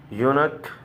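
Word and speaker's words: eunuch: बाद यू आया है, और जब ई के बाद यू आएगा तो इसका प्रोनाउंसिएशन यू होता है। और वो लिखा है यूनक और यूलॉजी।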